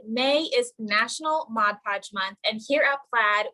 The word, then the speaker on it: Mod Podge: So that's where the name Mod Podge comes from. So if you say Mod Podge, you're actually saying it wrong. It's Mod Podge, not the G at the end of mod.